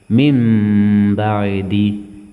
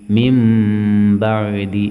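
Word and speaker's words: مِنْ بَعْدِ: മിൻ എന്നുള്ളത് മിം എന്ന് ഉച്ചരിക്കണം. മിം ബഅദി, മിം ബഅദി.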